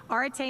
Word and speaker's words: arete: the english language and that's arete some of you might have a different pronunciation of that that's okay i'm using the british british pronunciation orte means excellence of any